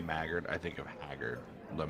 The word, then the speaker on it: Maggard: Maggard every time you say magard I think of haggard let me so they run into pronounced magard in the book funny magard so they run